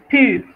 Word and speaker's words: pur: es el ejemplo de cuando ve usted escrita una U, que hay que pronunciar U, ¿verdad? Pur.